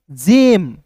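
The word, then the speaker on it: gem: तो जी ई एम को क्या पढ़ेंगे दोस्तों? जेम गेम नहीं यहां पे देखिए जी ए एम ई रहता दोस्तों।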